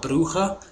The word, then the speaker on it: Brugge: campaign of the 2015-16 season we played club brugge or club bruja depending on though if you ask louie van hulle to pronounce it and it was it was a